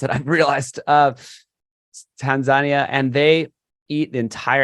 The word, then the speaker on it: Tanzania: I went to Tanzania. That's the correct way to pronounce it. I've realized Tanzania, and they eat the entire animal.